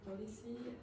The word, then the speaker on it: policy: Yes, now when you pronounced it first, you put the stress on the second one, which is what very often happens with French speakers. Policy. Policy. Okay, if you say policy or mobility, you will sound more French.